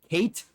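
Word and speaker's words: Cait Sith: t something like that its name is literally pronounced you could pronounce it when you read it Kate as in like Katie and then Sith as in like a Jedi like a dark Jedi Sith Lord like fer so it's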